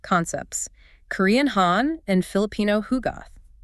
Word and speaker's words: Hugot: Right now, Hugoth spelled H U G- O T, but pronounced Hug Goth is the Filipino concept.